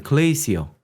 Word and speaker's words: 글레이시어: 중에서 저는 뭘 가져왔냐면 글레이시어... 글레이셔라고도 줄여서 발음하는데 글레이시어가 원래는 그거잖아요 빙산...